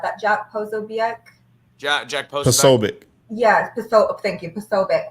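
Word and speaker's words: Posobiec: we think have you guys seen I always mispronounce his last name and I feel bad that Jack POC Jack Jack posic yes po thank you poic what he shared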